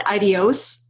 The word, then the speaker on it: ideos: a it's long so i call it ideos which is ideos i think this is what you're referring to and i did not misspell it it's not meant to be ideas it's meant to be ideos and what it is